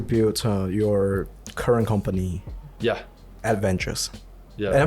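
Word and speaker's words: Aedge Ventures: Adventures. Yeah. Am I pronouncing it correctly? Edge Ventures.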